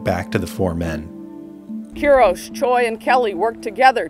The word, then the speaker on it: Quiros: "Am I pronouncing your last name correctly? Qui-ros?" "KEE-ros, Mr. Quiros, okay."